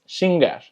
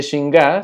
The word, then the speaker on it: xingar: Y finalmente tenemos xingar, que xingar significa ofender o molestar.